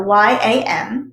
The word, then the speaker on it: yam: is associated with air and its mantra is yum so y-a-m but it's pronounced yam the heart chakra is like i